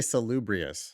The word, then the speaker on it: salubrious: is from you I'm going to try to pronounce it salub brius I would say salubrious salubrious okay cool salubrious that Eric said Eric